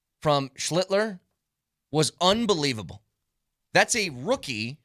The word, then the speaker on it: Schlittler: Give us a pronunciation. It's a great game yesterday by Cam Schlittler. It's Cam Schlittler.